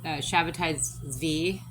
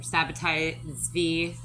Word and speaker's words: Sabbatai Zvi: The Frankist movement was started by a guy named Sabbatai Zvi, or Sabbatai Zvi. I've heard it pronounced like 5 different ways at this point.